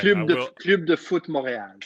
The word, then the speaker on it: Club de Foot Montréal: Club de Foot Montréal. So Club de Foot Montreal. I understand that R to EAL is a little bit difficult for our American palates here.